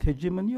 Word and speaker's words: hegemony: The term hegemony, or as I normally pronounce it as hegemony. Shall I proceed with hegemony or hegemony? Or both? Okay. I mean, the dictionary says hegemony. I say hegemony.